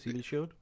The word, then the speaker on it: CB Shield: That's how you say it, CB Shield.